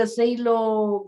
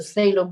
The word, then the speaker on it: phthalo: know i use the zelo green blue shade i i said it wrong it's not um cello blue green shade but it's shallow a phthalo green blue shade i